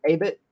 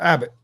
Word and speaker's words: Abbott: prospects from Andrew I I believe you say Abit is that that's how you say his name uh Abbott Abbott okay I contradicted myself and I shouldn't